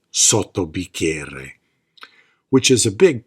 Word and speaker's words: sotto: She says, "You have to pronounce both T's. Sotto, sotto, sotto bicchiere. You hear that? 2 T's.